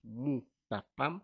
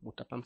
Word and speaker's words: Moutapam: Alors pour me trouver dans les réseaux sociaux, on taper mon nom Mapam. Mapam s'écrit M O U T A P A M.